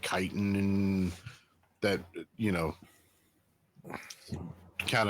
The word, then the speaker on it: chitin: have a suit of chitin armor. Of what? That's pronounced Chitin armor. with a K. CHITIN. Yeah, I know, but Chitin. it's pronounced chitin instead of shitin or Some chitin armor.